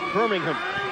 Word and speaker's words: Birmingham: that's birmingham alabama but it's actually birmingham england or probably pronounced birmingham just a little east